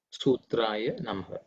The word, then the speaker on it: sutra: also they there's a there are a few people pronounce the shoe so it is su it's a dental sir sutra so i'm just